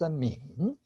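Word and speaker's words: 皿: And the bottom character by itself is pronounced min.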